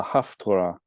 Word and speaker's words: Haftarah: last year, and then the Haftarah, or Haftara, actually, as the actual word is.